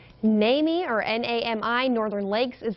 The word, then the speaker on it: NAMI: NAMI.